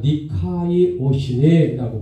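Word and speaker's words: δικαιοσύνη: 자, 원어 성경에는 의로움이란 니카이 오시네라고 발음합니다.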